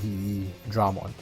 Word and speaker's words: Veedramon: and Dramon right um the English version just extended the V into ve so it's like the way you pronounce v like ve Dramon technically means the same